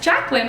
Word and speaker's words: Jaclyn: jaclyn hill and yes i know i was pronouncing her name wrong in my last video i felt so stupid i'm like i was i saying it like that it's jacquelyn of course it is but yeah I've